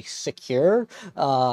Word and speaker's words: Sequre: of this company but it's say secure I believe I think it's because they make screwdrivers is where they came up with that name it's kind of a play on the word of secure but let's uh take